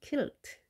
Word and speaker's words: kilt: 그 퀼트는 QUILT입니다. 이것은 quilt. 스코틀랜드의 전통 의상은 kilt. 발음이 약간 차이가 있습니다.